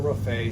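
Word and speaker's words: raphe: one on that one so lateral rafet spelled like Raphael r a p h e that'll show how to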